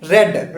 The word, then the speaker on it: read: is not being read that is red we will will we will read it red we will pronounce it red right but the spelling will be same because this is a